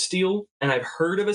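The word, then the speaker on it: stele: gonna look up because I know that it's pronounced steel and I've heard of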